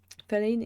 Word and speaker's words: feline: Feline is pronounced like feline. Feline. Feline. Feline. Feline. Feelings. I'm trying to mix it with Polish. Lean. Line. Feline. Line as in stick.